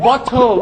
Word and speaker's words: bottle: โ่ Bottom ขวด อ่ะ นี่ ก็ คือ อีก หน คำ นะ ครับ ที่ ชอบ ออก เสียง กัน ผิด กัน เยอะ มาก นะ ครับ คำ ว่า ขวด เนี่ คือ bottle ล ล bottle นะ ครับ แต่ หลาย คน ช่บ บอก Bottom Of water น้ำ 1 ก้น น้ำ